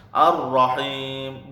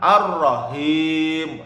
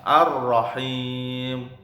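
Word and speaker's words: الرحيم: Ar-Rahim, haknya hak tipis. Ar-Rahim, jangan Ar-Rahim, itu salah. Yang benar Ar-Rahim.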